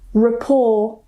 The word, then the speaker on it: rapport: So if they end with a t, we normally don't pronounce it. For example, ballet, gourmet, buffet or buffet, rapport, ricochet.